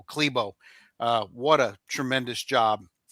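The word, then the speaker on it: Klæbo: Johannes Hosla Klebo. That's how you say his name even though it's spelled C K L A B O Klebo.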